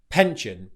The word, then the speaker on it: pension: The mistake you don't want to make here is with the P sound. Again, you want to make sure that it's aspirated because this can really